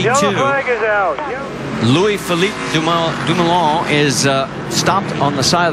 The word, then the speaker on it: Dumoulin: Yeah, Rusty and I were going to let you pronounce his name. Dumoulin.